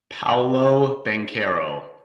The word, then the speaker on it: Paolo Banchero: Paolo Banchero, and that is how you say it, Fink. It is. Paulo Banchero.